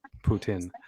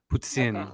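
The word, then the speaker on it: poutine: the french how a french person would say putin so why did she put an s in it i think it's the uh it's like a ts almost if you were writing it out phonetically like p o u t s i o n like tsar t s a r like that putin like that but she makes my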